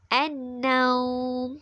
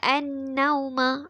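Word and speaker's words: النَّوْم: Jadi cara bacaan dia an-naum. An-naum. Kita baca an-nauma. Itu salah. Kita akan baca an-naum.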